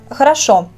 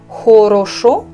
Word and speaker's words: хорошо: Хорошо. Je ne dis pas хорошо, je dis хорошо.